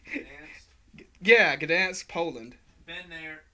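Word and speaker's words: Gdańsk: That's pronounced all right. Gdansk.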